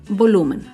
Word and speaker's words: volumen: Otro ejemplo de palabra grave sin tilde es la palabra volumen. Volumen se acentúa en la penúltima sílaba, pero no lleva tilde porque termina en N.